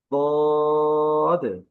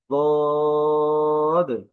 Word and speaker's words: ضاد: সেটি ছিল যে আমরা জিহ্বার কিনারা মাড়ির সাথে লাগিয়ে দাঁতের মাড়ির সাথে লাগিয়ে হরফটা উচ্চারণ হয়।